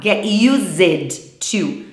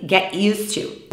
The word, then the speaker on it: get used to: importante prestar atenção à pronúncia para não falar get used to tá a pronúncia é assim get used to when you move to Canada you get used to speaking English all the time quando você se